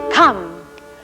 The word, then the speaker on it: come: next spy word is come come into the house and come rhymes with thumb and this one is